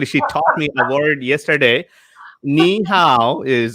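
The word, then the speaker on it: 你好: Ni hao is how are you doing? Did I say it right? Ni hao.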